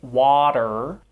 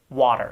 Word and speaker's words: water: and soft d sound so we don't say water but we tend to say water water city city it's called